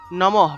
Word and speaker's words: নমঃ: নমঃ, প্রথমে হলো দন্ত্য নম, তারপরে বিসর্গ আছে, বিসর্গ থাকলে হ উচ্চারণ হয়।